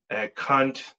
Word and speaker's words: Kant: the teachings of this man right here, Immanuel Kant. That's the way you pronounce his name.